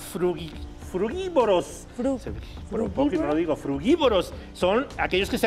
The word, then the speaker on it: frugívoro: Me sigue costando un poco la pronunciación. ¿Frugívoro o frugívoro?